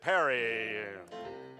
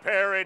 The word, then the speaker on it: Perry: And next to come along, ahead in the polls, Texas Governor Rick Perry. This is to the tune of the song Proud Mary, simply because Mary rhymes with Perry.